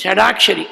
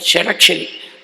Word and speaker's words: Shadakshari: Many people, they confuse and pronounce it as Shadakshari. It is not Shadakshari, but Shadakshari.